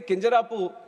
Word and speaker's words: Kinjarapu: And my name is Kinjarapu Ram Mohan Naidu. And when some people say Kinjarapu, there might be some problem with them.